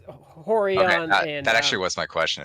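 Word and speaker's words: Rorion: with an R like Brazilians pronounce r as H so at the beginning of a word yes and it's horon that actually was my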